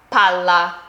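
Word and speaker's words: palla: Do you see how I'm holding the double a little bit longer? That's really essential here. Listen again. Pala shovel pala ball.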